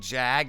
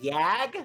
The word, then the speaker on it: Jag: on a good complaining Jag after hearing something like that excuse me it's pronounced yag yeah that's really funny